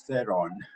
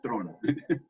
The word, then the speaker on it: Theron: Theron, or Turan, maybe I said it wrong last name. Hi, Peter. As you wish, it's like in Hollywood, it's Theron. Ah. South Africa is just Tron.